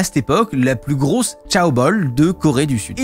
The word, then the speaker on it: chaebol: Je l'ai prononcé en mandarin parce que j'apprends le mandarin en ce moment, je ne sais pas si c'est la même prononciation, je me doute que non. Normalement, c'est comme ça, ce selon Google.